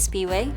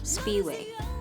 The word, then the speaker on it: Siphiwe: hi my name is Speedway if you live in the states there's a gas station called Speedway that's how my name is pronounced without the D Speedway it may sound different